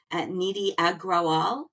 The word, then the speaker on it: Nidhi Agrawal: So I am joined today by the awesome Nidhi Agrawal. Did I pronounce that right, Nidhi?